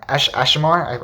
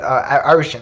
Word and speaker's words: Arishem: And then, he has such strong faith on Ashimer. I think that's how you say it. I might be completely wrong. But Arishem, that it is.